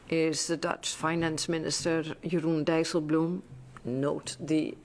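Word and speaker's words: Jeroen Dijsselbloem: on Thursday afternoon is the Dutch Finance Minister yurun dael Blum note the pronunciation of this name yurun Dum um to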